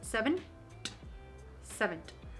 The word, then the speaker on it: seventh: well as seventh now it's pronounced as seven seventh i had to literally google